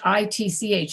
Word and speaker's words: itch: itch for example h i t c h something i have an itch yeah you don't pronounce the t it's just itch okay if you say